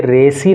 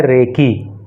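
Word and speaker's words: recce: ये रेसी नहीं है, ये है रेकी। आपने बहुत बार सुना होगा कि पहले रेकी की जाती है, कुछ जैसे चोर वोर होते हैं ना, तो पहले रेकी करते हैं, देखते हैं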